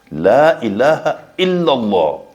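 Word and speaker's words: لا إله إلا الله: Vous voyez, non, la dernière partie là, il y a le shidda sur le là. La ilaha illallah.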